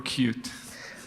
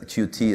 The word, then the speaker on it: Qt: know patches and updates is it pronounced cutie or cute ah that's a good question okay so everybody in sites you know you're obsessed cute at least from from our side I know that in the u.s. this cutie is externally the more prevalent pronunciation but I mean you